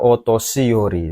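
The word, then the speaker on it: お年寄り: Hai, ini bacanya otoshiyori desu ne.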